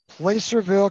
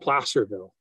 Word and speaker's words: Placerville: uh charles messier's fault placerville california is where randy is it's 10 miles from brian halcott contrary to uh normal pronunciation it's actually called placerville placerville sorry no it's okay